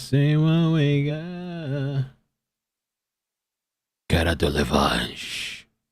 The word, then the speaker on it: Delevingne: Somebody on Twitch, on Edge Mark says it's pronounced Delevingne.